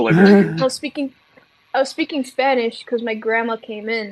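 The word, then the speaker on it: Spanisch: I thought I had a different pronunciation. It's like an SCH at the end. Spanish.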